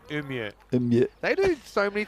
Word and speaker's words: Umeå: Well, if they're very north of Sweden, there's a place called Umeå. And it spelled like U-M-E-A. No, We'd you're say making like that up. Umeå, but it's Umeå.